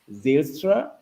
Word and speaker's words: Zylstra: to see you and I want to be sure I'm correctly pronouncing it zylstra or how deep yeah that's correct that's correct well done yeah nice to have